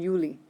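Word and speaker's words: Juli: and loudspeakers and stuff they do the same thing with uni and you Lee so sometimes you will hear somebody say you know so that you can tell they're talking about june instead of july so think of the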